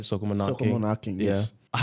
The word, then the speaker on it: Soca Monarch: Soca Monarch Soca King.